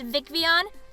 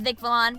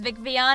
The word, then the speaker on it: Vicvillon: Vivienne the Pokemon so it's supposed to be pronounced Vicky on but I mispronounced it often as Vic Valon because when I made the channel I really didn't know that it was Vic V on and non Vic Valon so you'll hear me